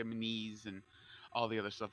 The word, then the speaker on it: Menees: To say my last name, it's Menees. So I always tell it's like MEN space EE space S. So yes, Menees, and you have to have